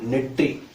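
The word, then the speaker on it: நெற்றி: It's called netri. Some people they pronounce it Netti. It's not Netti. It's Netri.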